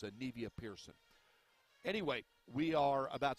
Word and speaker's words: Anivia: That's how her first name is pronounced, Anivia. I'd been told that it was Anavia, and I apologize to her.